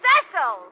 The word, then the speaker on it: Cecil: Darling, it's pronounced Cecil.